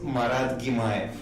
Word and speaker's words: Marat Gimaev: Well, my full name is pronounced Marat Gimaev.